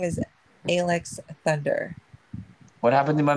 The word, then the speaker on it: Aylex: matter he likes feather my name is actually pronounced alex okay alex thunder now